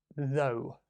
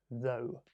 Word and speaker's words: though: So don't forget the pronunciation, though, though. So the vowel sound is just like the letter O, O, though.